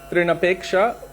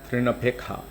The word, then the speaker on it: Trinapeksha: Technically, if you were to sing as a authentic person from Bengal would sing it, then you would say Trinapekha, because they don't pronounce the sha in the ksha.